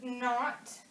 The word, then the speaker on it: knot: So words like knee and knot and knit, the K is actually silent.